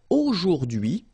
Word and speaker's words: aujourd'hui: H is not pronounced, so you only get this dui thing.